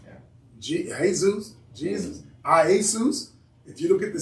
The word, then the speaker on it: Iesus: If you look in that 1611, it's pronounced, it's spelled I-E-S-O-U-S. Iesus. Iesus.